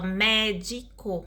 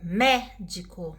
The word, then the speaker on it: médico: Por exemplo, aqui, ó, médico, médico. Então, a sílaba tônica aí é mé, né?